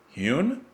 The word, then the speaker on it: hewn: Hewn?